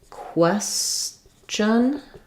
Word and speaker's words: question: Um, so, I think there probably is a pattern like in question, it's the chun sound.